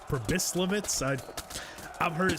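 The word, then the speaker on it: Pribyslavitz: commented that I was saying uh pris lit wrong it's pris litz I I've heard it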